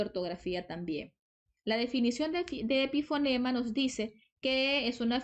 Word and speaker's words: epifonema: Si se fijan, esta palabra no lleva tilde porque a veces nos confundimos. Cuando yo digo epífora, epífora sí lleva tilde porque es una palabra esdrújula, pero en el caso de epifonema es una palabra grave y no se tilda porque termina en vocal.